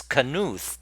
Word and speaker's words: Knuth: So it's Knuth. Donald Knuth. Yeah. So there is a K. A audible K there.